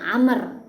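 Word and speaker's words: عمرو: ujung roknya berarti dibacanya Amr kalau tidak kalau apa kalau ada wow ya kalau ada Wow di ujung roknya berarti dibaca er Kalau tidak ada Wow di ujung roknya dibaca Umar house salah shohih hadits yang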